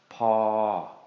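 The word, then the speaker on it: พอ: And when we put these two together, low plus long equals long midtone. So this is going to be pronounced as paw, paw.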